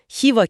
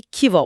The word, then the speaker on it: Khiva: Rusça telaffuzda birdenbire 'Meri' olur. Ya da 'Buhoro' kelimesi 'Bukhara' olur, 'Khiva' ise 'Kiva' olur.